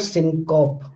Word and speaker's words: syncope: It is not syncope, it is syncope. So as you can see that how pronunciation is so different, because generally we know the word, there is a word like cope, coping with the situation, but here the pronunciation is syncope, apocope, metathesis, anaptixis, dissimulation, fortition, lengthening, epenthesis, elision.